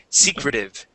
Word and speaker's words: secretive: So stress at the very beginning of the word. Secretive.